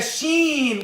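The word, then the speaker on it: ش: In the sheen, what is coming close and closer? In the sheen, the tongue, right?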